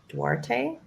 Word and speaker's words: Duarte: So 1525 Huntington Boulevard, and that's in Duarte, California.